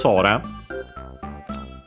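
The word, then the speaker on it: そら: it's it's the sky because sora uh accent on the first syllable means sky uh the air uh also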